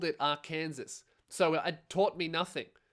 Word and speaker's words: Arkansas: All right. Arkansas. So, this is from Arkansas, not R. Kansas. A Kansas doesn't exist.